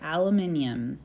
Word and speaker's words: aluminium: that is aluminum now if you're a part of the British Commonwealth you'll probably say aluminium because that's how they say it and just as a